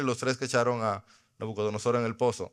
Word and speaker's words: Nabucodonosor: Se dice Nabucodonosor. Ese es normal.